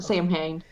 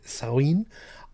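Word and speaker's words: Samhain: pronounced against maine salween see i i've always pronounced it the way that i had seen it i had that like sam hayne yeah yeah yeah because i didn't i didn't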